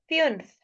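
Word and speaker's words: fünf: so this is स्वाई स्वाई द्राई द्राई पीियर पीियर पिय फ्यूनफ यह इ यू की साउंड आएगी इसमें फ्यूनफ जेक्स जेक्स जीबन आई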